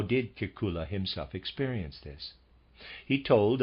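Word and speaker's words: Kekulé: in chemistry readers aside I might be spelling pronouncing Kula wrong it's it's spelled k KU l e and there's a grav over the E and every read is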